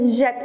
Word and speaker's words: jette: Double T, n'oubliez pas de doubler le T parce qu'il faut dire jette, prononcer le E comme s'il y a un accent grave.